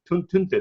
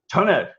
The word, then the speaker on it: Tønder: I'm sitting here in Oslo, and Haukur is in what, Tønder in Denmark. How do you pronounce that in Danish? Tønder, no? Tønder.